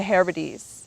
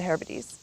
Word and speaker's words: Hebrides: And Oban is a gateway to many of the destinations out in the, I think it's pronounced the Hebrides, or yeah, probably the Hebrides.